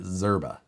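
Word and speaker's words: Szczerba: the guy who came up with this shane zerba it's s-z-c-z-e-r-b-a and he's he pronounces it zerba so because i actually know him he's a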